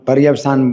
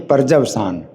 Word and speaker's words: पर्यवसान: हम पर्यवसान बोल रहे हैं ना, ये होना चाहिए पर्जवसान। ये बंगाली का इस तरह का उच्चारण है।